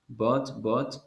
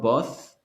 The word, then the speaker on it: bought: It's not both, because the last letter is T. It's not TH, it is HT. So the HT, you pronounce only the T. In TH, you pronounce th. But in this one, you have T at the end, so but. Okay.